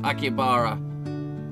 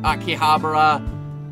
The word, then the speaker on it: Akihabara: vacation by the way yes it's Aki bara some pee some little pronounce in Akihabara and acaba acaba this is just Akihabara Akihabara Akihabara that place in Tokyo